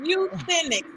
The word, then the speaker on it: euthenics: Euthenics. Euthenics. You said it right like the whole time.